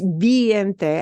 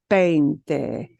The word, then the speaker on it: veinte: I'm not sure it's biente. I think you pronounce this veinte, because she said it sounds like vein.